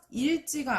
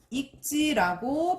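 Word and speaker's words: 읽지: 자, 자음 앞에서 어떻게 발음된다고요? 기역으로 발음돼요. 그래서 여기서 보시면 리을 기역 뒤에 뭐가 왔죠? 자음인 지읒이 왔습니다. 그러면 이때 뭐로 발음된다고요? 기역으로 발음된다고 했잖아요. 그러니까 일지가 아니라 익지라고 발음해야 된다라는 거예요.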